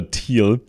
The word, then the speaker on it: Thiel: So, Peter Theal, actually German, we would pronounce him Peter Peter Teal.